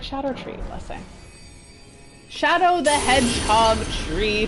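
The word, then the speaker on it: Scadutree: since last time that it's not scadu tree blessing it's it's pronounced Shadow so it's like Shadow tree blessing Shadow the Hedgehog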